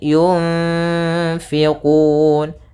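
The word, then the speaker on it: يُنْفِقُونَ: Kemudian di sini ada bacaan ikhfa pada lafal nun mati bertemu dengan fa, yaitu cara membacanya adalah nunnya kita samarkan kepada huruf fa, kemudian ditahan dengungannya atau gunnahnya. Sepanjang 2 harokat.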